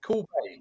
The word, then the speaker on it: Cuil Bay: Cuil Bay, as in cool. So Cuil Bay.